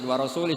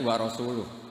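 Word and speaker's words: ورسولُه: Allah itu terbebas, gak urusan dengan orang musyrik, wa rasulih juga gak ngurus Rasulnya. Kalau sama Rasul saja tidak ngurus, apalagi sama kita. Sama Sayyidina Ali dibenarkan, yang benar bacanya itu wa rasuluh.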